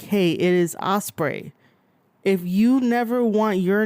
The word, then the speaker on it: Ospreay: individual people and be like hey it is Osprey if you never want your name to be mispronounced there is no reason why you should